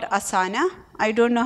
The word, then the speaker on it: Asana: you pronounce it again Asana a s a n a Asana okay any other tools